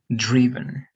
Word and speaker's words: driven: Pero si te das cuenta, cambia un poquito la pronunciación. No es drive, it is driven.